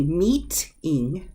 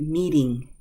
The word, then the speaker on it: meeting: to a D sound the next one I can say meat in meat in but we pronounce it meeting meeting meeting the T softens because those vowel on each side what about this one